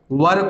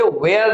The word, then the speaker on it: were: वर को रखा गया है, WERE को। फिर से कह दे रहा हूं, इसे वेयर नहीं पढ़े, ये इसकी सही प्रोनाउंसिएशन वर है।